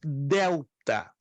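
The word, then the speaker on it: δέλτα: Depois temos delta, que se pronuncia como fosse a nossa letra D.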